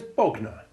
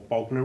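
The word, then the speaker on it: Bognor: lignite pugnacious pugnacity magnanimous magnificent magnet and there's bogner or bogna regis to give it its royal title a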